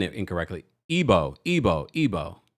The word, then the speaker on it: Igbo: Ebo. Ebo. Ebo. Right. Ebo. Thank you. Ebo. Ebo. I'm part of the tribe. Come on now. Okay. Thank you so much, guys. You know, the G is silent.